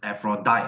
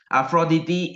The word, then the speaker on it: Aphrodite: is not pronounced as Aphrodite or aphrodita is pronounced as a fraudide this is the real Greek pronunciation right it's called aphrodity aphroditi is the goddess of